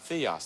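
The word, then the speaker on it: θεός: pronounced theos, that's right.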